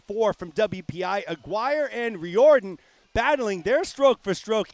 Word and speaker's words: Riordan: Aaron Swann from WPI takes third so Sean Riordan from Brandeis your B flight winner Sean Reardon with the win there in Lane five sorry Mike appreciate the update on the pronunciation will move into the a final here